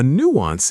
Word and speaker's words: nuance: A nuance is a very small difference in meaning, feeling, or sound. Nuance. Nuance. Two syllables, stress on the first.